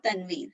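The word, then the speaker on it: تنوين: This is n sound is called tanween.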